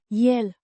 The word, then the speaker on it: el: A pronoun meaning him pronounced yel. A short simple sound.